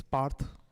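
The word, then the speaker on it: Parth: hey uh so wait what's your name it's parh so uh wait how do you spell that it's p for parro yeah a r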